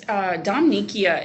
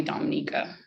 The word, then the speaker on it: Dominicia: It's Dominicia is my like formal long Dominicia. name. Yeah. But most people call me Dominica.